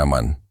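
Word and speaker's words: אמן: Esas 3 consonantes, Aleph, Mem, Nun, forman la raíz que se pronuncia amán, y esa raíz no tiene un único significado.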